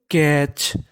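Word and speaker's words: catch: हमारा टीसीएच क्या है टीसीएच अगर आपको इंग्लिश में टीसीएच लिखा मिल जाए तो उसे पढ़ना है चा क्या पढ़ना है चा सी ए टी सी एच क्या बोलेंगे इसे हम लोग कैच कैच कैच का मतलब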